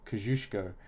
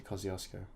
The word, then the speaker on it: Kosciuszko: stroll at first apparently Mount Kosciuszko is actually pronounced kozuszko but us Australians bastardize it into Kosciusko I go to the chairlift at 2:30 and